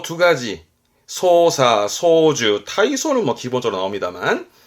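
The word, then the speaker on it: 操作: 이 작자 발음 기본이 사끄이지만 특이한 케이스로 발음이 사로 가는 거라서 좀 봐두셔야 됩니다. 조작은 소사.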